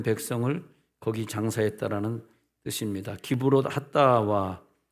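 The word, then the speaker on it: קברות התאוה: 그래서 34절에 그곳 장소를 기브롯 핫다와라고 불렀는데 그 뜻이 뭐냐면 욕심을 낸 백성을 거기 장사했다라는 뜻입니다. 기브롯 핫다와 우리나라 말하고 히브리 말하고 이 혀의 구조가 다르기 때문에 좀 다르게 발음이 되는데 기브롯은 카바르에서 옵니다.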